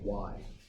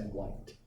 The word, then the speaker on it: white: Make sure you pronounce the last consonant. Okay? You said to me why, right? Which is not correct. The ceiling is painted in white. What does in white? You need to say white.